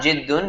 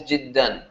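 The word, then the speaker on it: جدًا: It's not jiddun, it's always jiddan.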